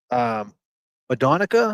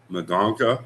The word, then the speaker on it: Mendonca: I think his last name was Madonica. I think, is that the way you say it? M-E-N. I think you spell it Mendonca. He was buried in Bristol with military honors. Mendonca. Oh, Mendonca. Yeah.